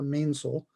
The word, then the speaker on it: mainsail: mainsail off of that pronounced a main sole it's going to have